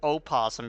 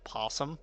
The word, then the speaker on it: opossum: It's like, it's opossum because you've spelt it opossum, but it is possum, and the O is just silent.